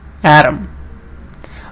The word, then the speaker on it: atom: Here the stress is on the first part, data, atom.